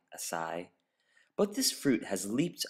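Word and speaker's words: açaí: Berry in our opinion the most mispronounced food this year we've heard it all from Akai asai but this fruit has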